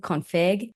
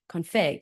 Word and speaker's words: Config: I was saying config, but it's actually config.